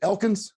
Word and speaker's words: Elkins: Today's guest is, and is it Elkins? Am I pronouncing that right? Elkins. Yep, okay, got it.